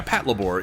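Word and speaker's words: Patlabor: good what you call weird is the corect correct pronunciation yeah Pat labore it just it seems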